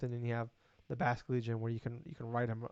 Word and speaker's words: Basculegion: This is the fish one, the Basque Legion. Yes, Basket Legion. Oh It my god, it sounds like it's spelled. Holy yes, shit. Basculegion is the evolution of the Gen 6 Pokemon Basculin.